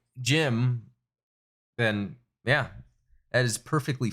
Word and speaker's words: GM: it is rgm aka gm pronounced jim but i want to